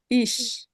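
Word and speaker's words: ich: ইস। ইস। এখন এটার উচ্চারণ ওদের কাছে চান, ওরা অদ্ভুত উচ্চারণ দেয়, ইক তারপরে কেমন যেন দেয়। ঠিক আছে, ওটা ভুল উচ্চারণ।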